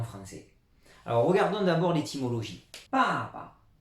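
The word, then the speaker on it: 爸爸: Normalement c'est quatrième ton et quatrième ton, mais quand on a deux fois la même syllabe, les Chinois transforment ce ton en ton neutre, c'est-à-dire sans aucun ton. Donc on insiste bien sur la première syllabe, papa.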